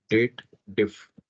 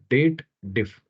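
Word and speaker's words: DATEDIF: formula dated if okay no it's not dated if that is what the wrong pronunciation it is a date related family function so you should read it as date diff date take a pause diff okay date and then diff diff right now the first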